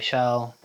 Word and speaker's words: Schell: shell s c h l l um yeah I